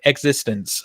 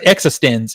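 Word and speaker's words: eXistenZ: him right now with existence or exist existen is actually how it's pronounced in the movie existen It's existence but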